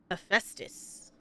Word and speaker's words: Hephaestus: Listen to how they pronounce Hephaestus. Hephaestus.